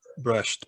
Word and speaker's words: brushed: Brush it. Brushed, perfeito.